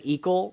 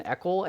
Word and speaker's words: Eckel: Everyone says Equal rather than Eckel, and I don't, it's phonetically Equal, but apparently my ancestors say Eckel, so I've dealt with some serious challenges.